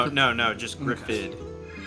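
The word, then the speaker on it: Gruffudd: Griffid.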